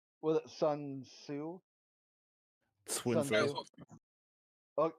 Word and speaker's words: Sun Tzu: it is Sun Tzu, but depends on the dialect of Chinese you're using.